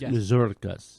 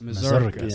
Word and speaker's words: mazurkas: Well, it's first of all, it really, if you want to pronounce it correctly, it's Mazurkas. Mazurkas. Yeah. And gotta roll that tongue.